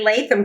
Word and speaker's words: Latham: How did your partnership with Larry Latham come together? Did I say his name right? Gosh, yeah, Larry Latham.